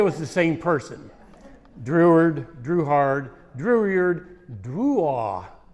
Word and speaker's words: Drouhard: Druard Druhard Druyard Drua is how the name is pronounced in the French pronunciation.